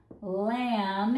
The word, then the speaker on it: lamb: Lamb, if you teach it as a unit, or lamb, if you teach it as individual sounds.